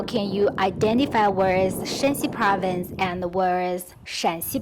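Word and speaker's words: 山西: So shan, shan, shan, shan. Shanxi, the first accent, is that province. Shanxi, the third accent, is this province.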